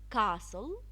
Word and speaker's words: castle: silent T silent T some words in English language we do not pronounce the T in them some words I have listed some common words Castle ballet listen we so often can you see the T it's not pronounced but written Shh silence be silent